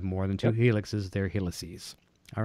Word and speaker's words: helices: We've got two Helix. What's the plural? Heli? Helixi? How do you say Helices. More? Helices. Okay.